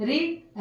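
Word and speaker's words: read: क्रियापदाचे दुसरे रूप वापरतात रीड रेड वापरतात रेड मी या कर्त्यासाठी आय आणि वाचलोला रेड आर इ ए डी रेड म्हणजे वाचलो स्पेलिंग सेम आहे पण उच्चार बदल आहे लक्षात घ्या रीड रेड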